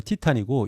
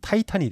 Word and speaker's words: Titan: 이게 그리스 발음으로 티탄이고 영어로는 타이탄이 됩니다. 스펠링은 이렇게 TITAN 씁니다.